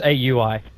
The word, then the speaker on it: Aui: But I was never quite sure with, like, because I know it's AUI. That's how you meant to say his name. I always found that so boring. So I was like, it's like Aoi 2000.